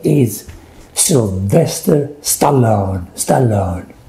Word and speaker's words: Stallone: name is sylvester stallone stallone stallone it's not french stallone sylvester stallone